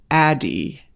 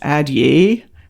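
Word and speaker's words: Addyi: right for you the other Med is called ADI and it's spelled a d d y I had to think about that ATT why I you'd think it'd be pronounced at ye but it's pronounced Adi this is a once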